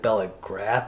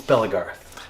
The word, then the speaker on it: Bellagarth: Which in the episode, I think I was having trouble pronouncing it, and I think I said Bellrath at one point, but it it's Bellagarth, right?